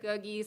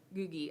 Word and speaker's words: Googie: Some people say googie, some people say, I've heard goji, but I've always said googie.